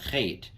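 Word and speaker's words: חית: The Chait is connected. So you can see how these little details are important. That's a ch, a chait, transliterated as an H with a dot under it, as opposed to the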